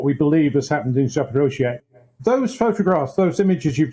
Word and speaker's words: Zaporizhzhia: But when you see in that small Ukrainian town of Zaporizhzhia, I think that's the right pronunciation, but the biggest nuclear plant in Europe,